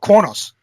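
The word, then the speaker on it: Qo'noS: do you say it the Klingon homeworld III Corps knows Corps knows that's how it's pronounced and he goes to defend the house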